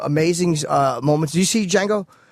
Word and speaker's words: Django: Did you see Django? Not yet. There was. I like to call it the Django. Django. I like pronouncing the D.